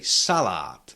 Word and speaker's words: salát: Uh the second and last syllable contains long vowel but we cannot shift the stress from the first syllable to the second one because it has to stay on the first one.